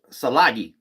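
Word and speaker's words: Tsalagi: So the Cherokee themselves is named um salagi. That's how they say it.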